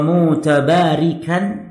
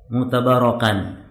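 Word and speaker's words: متبركا: Musta'inan wa mutabarikan, nah, nanti salah baca, dibacanya apa? Mutabarakan.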